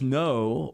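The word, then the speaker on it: naur: pronounce this n-a-u-r see the word is just no but said with an approximation of an Australian accent what's it mean no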